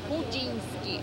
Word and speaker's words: Chudziński: 5 minut do ¿Cómo se pronuncia el nombre de eso? Chudziński, Chudziński.